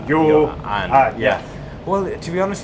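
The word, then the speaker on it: Ioan: Because in everything that we get, it says in brackets, pronounced yo and.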